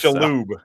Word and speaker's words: Shalhoub: Tony Shalhoub's hair is all fucked up. Yeah. Tony Shalhoub. Like I can't pronounce his name to save my life. Shalhoub.